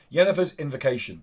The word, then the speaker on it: Yennefer's Invocation: Yennefer's Invocation.